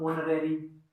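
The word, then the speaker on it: honorary: जैसे मैंने लिखा एक ऑनरेरी, ऑनरेरी, ऑनरेरी क्या है, ओ की साउंड दे रहा है इसमें, एच तो साइलेंट है, नो साउंड का मतलब साइलेंट, साइलेंट साउंड, ठीक है।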